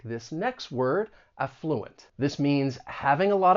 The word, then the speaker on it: affluent: when pronouncing this word the stress is going to be on that first syllable affluent now that is the way you're going to find it in most English dictionaries however you may hear some people stress that second syllable and in that case that first syllable is then going to have that schah sound that uh sound affluent you may hear both